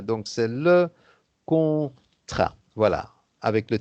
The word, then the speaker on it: contrat: le On ne prononce pas le contrat, T à la fin, donc c'est le contrat.